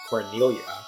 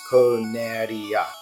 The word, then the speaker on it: Corneria: Japanese does not have L's, and so whenever they're pronouncing words that have L's in them, they will replace them with R's. And if you read the literal translation, the literal Japanese, it says Corneria.